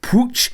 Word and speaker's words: Puig: Now, I know with this, guys, I've been meaning to say it for a while, there is a different pronunciation in Catalan on that second name. It's Riqui Puig in Catalan, but actually, for me, it's very, very difficult to pronounce it like that.